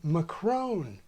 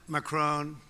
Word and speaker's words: Macron: Baroque and Renault and many speakers use it for a third French vowel as in macron president macron Mrs mccrown British Baroque